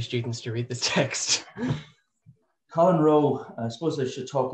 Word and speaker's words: Colin Rowe: No, it is Colin Rowe. It's not Colin Rowe. You can have a row with him, but he's dead. But it's Colin Rowe.